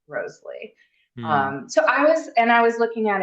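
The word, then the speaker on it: Wriothesley: Southampton's name, Henry Roseley, was supposed to be pronounced Roseley.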